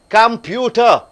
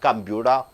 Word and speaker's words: computer: Computer. See, T is there. So half D sound. Computer.